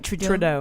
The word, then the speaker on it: Trudeau: shadow he's a Trojan hey I pronounce his name wrong is it true Trudeau Trudeau yeah I think Kirchner would look more